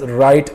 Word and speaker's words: write: WRITE, again it is pronounced as right, RIGHT, right, and WRIGHT, right, जैसे कि हम play राइट word में यूज़ करते हैं।